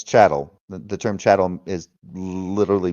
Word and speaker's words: chattel: I don't care if you call it Chittum slavery, whatever you want to call it. It's chattel.